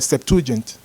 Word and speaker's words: Septuagint: So you know the story of the Septuagint. I can hardly pronounce it. How do you pronounce it? Did I pronounce it right? Septuagint.